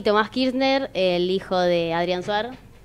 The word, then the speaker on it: Kirchner: Es Kirchner, se escribe distinto. Sí. O sea que Adrián Suárez, Adrián Kirchner. Una Z. ¿Viste? Sí, con una Z.